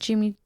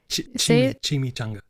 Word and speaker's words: chimichanga: My friend Amy was wanting to try it, so they have a breakfast Jimmy. Am I saying it right? I said Jimmy. Chimichanga.